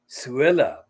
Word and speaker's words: Suella: And because of her name, Suella, it rhymes with Cruella.